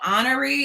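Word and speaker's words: Honoré: author who's the author of the book carl honoree is spelled h-o-n-o-r-e okay we'll get it and we'll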